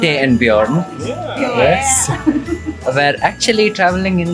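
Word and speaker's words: Björn: So Ute and Bjorn were, or as you're supposed to pronounce it in German, Ute and Bjorn, yes, were actually traveling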